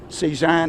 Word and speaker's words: C-SAAHN: That's what C-SAAHN, as I pronounce it, is. Yes. The Center for the Study of Art, Architecture, C-SAAHN. History, and Nature. Nature. Sounds like C-SAAHN, Paul the C-SAAHN, artist.